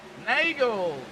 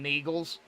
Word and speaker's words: Nagels: crap out of him, I'm going to call him Neagles. Even though he told me how to pronounce his last name. I'm just going to call him that. I like picking on the drivers. I only do it for fun. But it's actually pronounced Nagels.